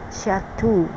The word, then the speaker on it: Shata: But our name is Shata, pronounced Shatu. It's almost like Satan.